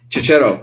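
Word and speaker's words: Checchetto: How do you pronounce his last name? He's on Daredevil. Oh, Chicheto? Chicheto, yes.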